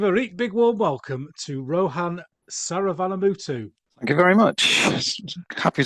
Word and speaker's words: Rohan Saravanamuttu: Let's give a big warm welcome to Rohan Saravanamuttu. Thank you very much. Happy to be here. Brilliant. And pronunciation okay?